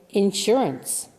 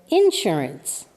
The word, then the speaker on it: insurance: I'm from the East Coast of the United States, so I say insurance. But someone from the South will usually say insurance. The syllable in the beginning of the word takes the stress.